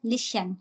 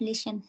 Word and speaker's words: listen: don't mind, you said listen. It's not listen. Listen. Sa na. Li sa na.